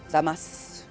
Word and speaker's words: Zamasu: Zamasu. You could also say Zamasu. So technically, you're not pronouncing it wrong if you over-enunciate, but it just sounds like you're over-enunciating. Does that make sense?